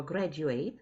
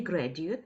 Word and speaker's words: graduate: В англійській мові є слово graduate, закінчувати, і graduate зі зміною в наголосі випускник.